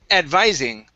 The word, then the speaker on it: advising: This word is advising. Advising her to escort. Okay, so it's a long I sound.